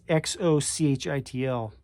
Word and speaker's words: Xochitl: It's Xochitl. And I think you pronounce it with a Z.